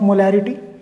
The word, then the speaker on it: molar: This is pronounced as मोलर, क्लियर.